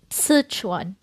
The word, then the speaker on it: Sichuan: The correct Chinese pronunciation is Szechwan.